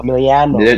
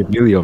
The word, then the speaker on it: Emiliano: Emiliano. Emilio. Emiliano. There's two. Oh, why does everyone just call me Emilio, man?